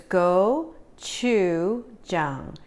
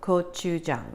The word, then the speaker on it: gochujang: red pepper paste called GoChuJang, and simply is pronounced as go, like G-O, chew, like C-H-E-W, like chewing, Chung, like bang, but with a J. So it's GoChuJang.